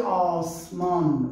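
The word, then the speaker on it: آسمان: A pronúncia seria O. Dam. Odam. Odam. E Osmon.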